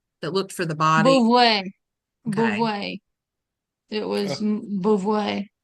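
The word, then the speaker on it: Beauvais: Monsieur Bouvert that looked for the body. Beauvoir.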